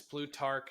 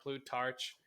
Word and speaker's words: Plutarch: how to say it it's blue Tark not Plutarch and this passage says